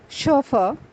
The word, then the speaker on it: chauffeur: dress material of women the next word is pronounced as chauffeur which means driver Shuffle the